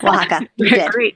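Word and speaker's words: Oaxaca: You talk about the indigenous women in Wajaka. Did I pronounce that right? Yes. Waka.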